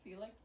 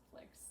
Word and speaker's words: Flix: It was Felix? No, it's Flix.